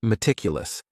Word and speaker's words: meticulous: The next word is meticulous, and this word has 4 syllables, and the stress is on that second syllable. Meticulous, meticulous. That first syllable also has that schwa, that A sound, that reduced vowel sound.